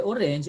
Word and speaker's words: orange: next i'm orange orange remember the nasal sound on orange and produce we sound